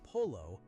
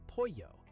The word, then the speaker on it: pollo: And the word for chicken, pollo, is not "polo". It's "pollo". "Pollo". Double L always sounds like "yuh" in Mexican Spanish.